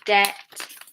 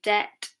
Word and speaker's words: debt: And then with the T rule, so if it's BT, then the B is silent. We have debt, doubt, subtle. Okay, debt, doubt, subtle.